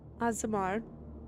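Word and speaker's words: Aasimar: Asimar. Completely forget she's an Thank you. Asmiri.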